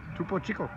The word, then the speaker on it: Topo Chico: How do you pronounce that? Hard seltzer? No, right here. Topo Chico? Yeah. Topo Chico.